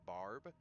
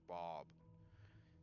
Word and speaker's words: Barb: when I was young, I had a speech impediment where I couldn't say R, so I had to say it like we had a babysitter named Barb, and I kind of got teased into pronouncing her name correctly over the course of years because I kept calling her Bob.